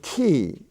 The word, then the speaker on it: key: Y and incidentally um the word key k-e-y the ey spelling is there as in uh which is a spelling all its own in lesson 94 we